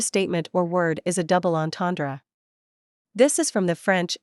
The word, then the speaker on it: double entendre: Give the word as close a French pronunciation as you can. The ends are nasalized, the are somewhat throaty, and the final syllable is barely audible.